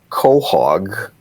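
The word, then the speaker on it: chog: it and then spell it I it's I pronounce it Cog and it can be spelled c h o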